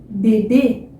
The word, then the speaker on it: bebê: E quando você vê uma palavra que tem esse acento, definitivamente a pronúncia é fechada, tá? Então, bebê, né?